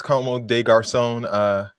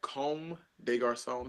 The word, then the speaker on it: Comme des Garçons: A nice Como de Garçon. Is that how you pronounce that? No, it's Comme des Garçons. It's a French word there.